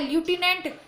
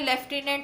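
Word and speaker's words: lieutenant: लिखा है ल्यूटिनेंट skiing, पढ़ रहे हैं लेफ्टिनेंट शीइंग।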